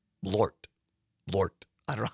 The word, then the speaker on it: Malort: But Carol says it's one syllable. Malort.